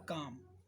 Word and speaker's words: calm: ऐसे ही CALM, keep काम, L silent है इसमें, M, राइट।